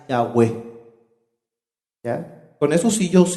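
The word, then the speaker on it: Yahweh: con el nombre correcto la pronunciación correcta más cercana es la web con esos hijos y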